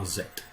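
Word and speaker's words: Aset: the sister wife is known to the greeks as isis i prefer the pronunciation of azet there are other pronunciations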